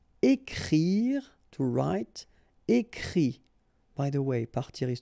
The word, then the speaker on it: écrit: And then the IT, phonetically you pronounce I because final T is not pronounced, but still. Écrire, to write. Écrit.